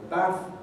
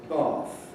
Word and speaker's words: bath: english in the world use the same vowel of trap and say bath received pronunciation and the south of england in general has undergone a lengthening of ant before voiceless fricatives so that rather than the historical bath we say bath this is an innovation